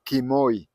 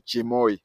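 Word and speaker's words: Kimoi: know the former president his father was called kimoy but you see cabras cannot pronounce kimoy so they say chimoy that is why you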